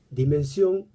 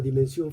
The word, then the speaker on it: dimension: En francés, dimensión la va a cortar di de dicho y mansión, pronunciado así, mansión como en español, la casa, el lugar del dicho, la morada del dicho.